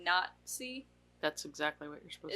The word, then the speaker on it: Nazi: no T in the spelling, though. You've been calling it Nazi this whole time? No, I always say Nazi, but I always feel like It's I'm Nazi. saying it wrong because there's no T. It's Nazi. Oh, cool. There's a lot of German words that say things that, the letter isn't there, but we pretend.